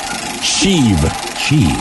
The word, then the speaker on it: Sheev: Sheev. Yeah, kind of like Steve, but if you say it wrong.